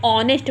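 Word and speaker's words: honest: टी लेकिन इसको नेस्ट नहीं पढ़ा जाता इसको ऑनेस्ट पढ़ा रहा है साउंड क्या आ रहा है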